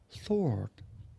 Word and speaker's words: sword: Sword sword เป็นคำ silent w w จึงไม่ออกเสียงว่า sword sword all they that take the